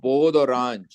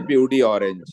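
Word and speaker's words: peau d'orange: sir first of all the French word is po orang don't say pey orange right French will be very angry correct pronunciation po means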